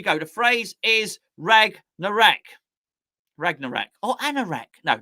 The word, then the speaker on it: Ragnarok: hold on a second it's ragna rock rag ragnarok not wreck ragnarok ragnarok sounds like a type of music doesn't it right oh